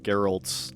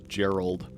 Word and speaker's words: Geralt: they say that uh Geralt's name gets like mispronounced as Gerald sometimes, but those two things sound kind of totally different.